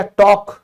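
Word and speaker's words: talk: फिर बात करना, बात करना, तो आपने कभी ध्यान दिया, टॉक, टॉक बोलते हैं, ये भी साइलेंट है।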